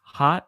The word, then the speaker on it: hot: hot hat hat uh with the hot sound the sound is a short o sound uh a short o